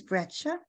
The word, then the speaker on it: breccia: What is breccia? This questioner asks. Did I pronounce it correctly?